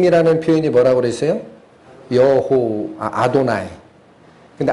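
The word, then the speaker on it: אֲדֹנָי: 라고 있음 이나 아도나이 그래서 이걸 울 때는 그냥 아도나이 라고 읽어요 근데 아드 바이 라르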